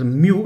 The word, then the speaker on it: mu: तो capital म्यू आप इस तरह से लिखेंगे, स्मॉलर म्यू इस तरह से लिखेंगे। Okay, it's म्यू, the pronunciation is म्यू, इट्स नॉट मू और समथिंग एल्स।